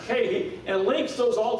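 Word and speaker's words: καί: Yeah, that word and in between each one of these, it's a Greek word kahi, and it's spelled K-A-I. It's pronounced kahi, and it links those all together into one.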